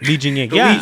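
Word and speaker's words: Li Jingliang: And all of his other fights before that, Li Jingling, I don't think I said that right. Li Jingying, yeah, you said it right.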